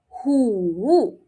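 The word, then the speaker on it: 虎: Five is woo woo Tiger is hoo. Hoo. Same tone here, right? So, it makes it easier, but the sound is different. One starts with a W, the other one starts with a H.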